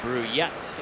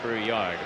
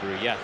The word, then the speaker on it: Brouillette: Brouillette is how you pronounce the name, not Brouillard, Brouillette.